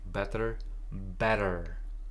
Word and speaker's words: better: How do you say that in American English? Better, a little bit of a D, better.